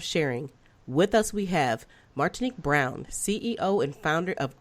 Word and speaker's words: Martinique: How you doing, Martinique? And tell me if I'm probably saying your name wrong, right?